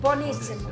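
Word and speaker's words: buenísimo: Buonissimo.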